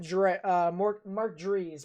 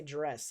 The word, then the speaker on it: Dries: I am watching Mark Dries. Mark Dries is the guy that I am watching. I was about to say Dress, and I was like, that's not how you say his name.